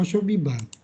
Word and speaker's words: 遊び場: Kemudian di sini ada asobijo atau asobiba. 遊び場。 Asobiba dibacanya. Asobiba artinya asobu tokoro ya, tempat bermain, asobu tokoro, asobu baso, tempat bermain atau playground.